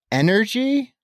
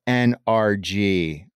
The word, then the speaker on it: NRG: the energy sector uh I've never heard anyone pronounce it energy I mean I say energy a lot but they don't refer to the stadium in which you were referencing as energy but rather they use the three letters very articulated NRG